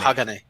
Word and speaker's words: Hagane: What's the Japanese pronunciation? Is it like Hagane? Yeah, Hagane. All right, cool.